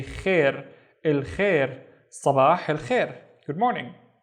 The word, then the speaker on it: خير: Instead of saying Khayr, we say Khair, Khair, Sabah, Khair.